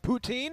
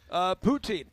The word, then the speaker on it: poutine: I had never had, and I'm probably saying it wrong, poutine.